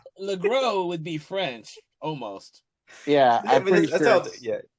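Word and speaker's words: LeGros: Um so they got James Lross uh or Lro. I haven't heard it. Lro is how they pronounce it on the commentary. I've always thought it was Lross because it ends with an S, but you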